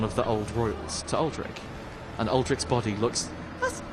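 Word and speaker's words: Aldrich: the sad boy that alri I'm going to I'm going to really emphasize the second syllable of that every time now that you've said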